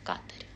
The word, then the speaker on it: Катар: сейчас в Катаре кавкаторе правильно говорить в Катаре катардог Катар А это